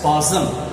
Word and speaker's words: spasm: is called a spasm see the spelling for spa is m okay but we have to pronounce it as possum spasm of muscles muscles